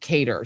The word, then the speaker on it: Cader: Cader, you said it right.